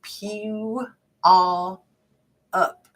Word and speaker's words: Puyallup: In Oregon, we pronounce Puyallup like Pew-all up.